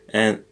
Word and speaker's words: a: And it's not ha, A. it's a. So the H is silent, are two forms of the verb to have, and so that's how they are in Italian.